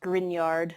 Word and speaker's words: Grignard: grignard but it's pronounced grignard like that gn combo like in lasagna um so grignard reagents